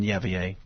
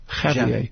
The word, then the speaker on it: Javier: And uh, are you pronouncing the J or not in Yavier? Javier, Javier, Javier,